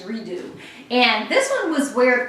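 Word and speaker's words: Re Deux: And this is Redo is spelled R-E space D-E-U-X, Redo.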